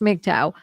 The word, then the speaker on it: MGTOW: MGTOW, which is pronounced MGTOW, by adherents are unlikely to meet in person, instead sharing their techniques, successes, and failures online.